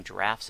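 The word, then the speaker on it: draught: did pick up some drafts of sparkling apple cider and yes that is pronounced draft and not drought a drought is when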